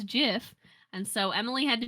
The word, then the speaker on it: GIF: and it's like well i pronounced gif as jiff and so emily had